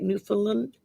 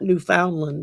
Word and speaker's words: Newfoundland: Newfoundland. Um, not New Foundland, but Newfoundland, I believe.